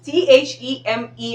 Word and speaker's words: theme: right so i hope you got the differences t-h-e-m-e is pronounced theme all right the central part of